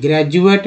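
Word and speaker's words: graduate: ग्रेजुएट में डी को ज उच्चारण किया जाता है, ग्रेजुएट।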